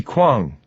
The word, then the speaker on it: Quang: says You must be Quang she pronounces it correctly rhyming it with Swang on she offers her